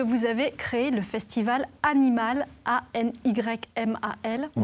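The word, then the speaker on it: Anymal: Le week-end prochain, c'est la deuxième édition du festival que vous avez créé, le festival Animal, A-N-Y-M-A-L. On prononce comme ça ou Animal?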